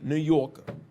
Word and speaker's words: New Yorker: New York is spelled Newyork, but if you're a New Yorker, you don't pronounce the R. You say New Yorker.